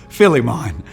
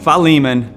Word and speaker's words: Philemon: Most of the time mispronounced by everyone that ever quotes it, Philemon. But Philemon, which is only one chapter, verse 15.